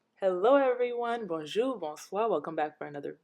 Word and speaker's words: bonjour: and this is how we greet each other bonjour bonsoir and i consider you guys like family